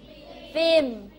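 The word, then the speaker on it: film: to to me ม ฟิลม ิ ฟิลม ิ อึ้ม ให้ ลง มา ด้วย เสียง ตัว M ฟิลม ิ ฟิลม Entertainment Entertainment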